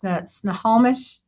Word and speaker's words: Snohomish: Snohomish, is that?